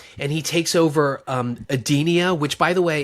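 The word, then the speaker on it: Edenia: Um, but anyway, Khan shows up and he takes over um Adenia, which by the way, it's spelled E D E N I A. I thought they were calling it Adia, like like Adele or Anyway, whatever.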